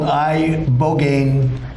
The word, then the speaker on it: ibogaine: injuries underwent, it's called ibogaine treatment. Ibogaine. Remember the name. Is that pronounced relatively properly, would you say? Yes.